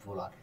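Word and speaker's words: Wöhler: বার্জেলিয়াসের ছাত্র তার নাম হল ফ্রেডরিক ভোলার।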